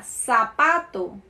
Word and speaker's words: zapato: Em espanhol, o Z, que se chama Z, na América Latina tem um som de S, ok? Tem sonido de S. La Z. Então, uma palavra que é igualzinha à pronúncia em português sería zapato, zapato. Mas na verdade se escreve com Z, ok?